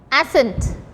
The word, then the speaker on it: ascent: Ascent. Next word you have to write ascent. Ascent. In this word also C is silent.